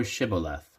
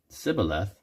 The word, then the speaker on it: shibboleth: Then they said unto him, Say now Shibboleth. And he said, Sibboleth, for he could not frame to pronounce it right.